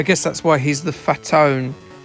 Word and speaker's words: Fatone: I guess that's why he's the Fatone. Fatone's spelled the same way as Fat One. Yeah, it doesn't really work when you say it, does it?